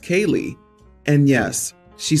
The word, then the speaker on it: Caeligh: My wife suggested Caeligh, pronounced Kaylee, and yes, she spelled it out.